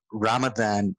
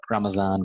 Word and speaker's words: Ramadan: in the northern latitudes Ramadan according to like 20 circles or ramazan Ramazan the different ways of pronouncing in is it it